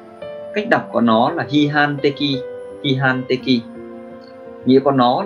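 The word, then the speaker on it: 批判的: Cách đọc của nó là hihan teki, hihan teki.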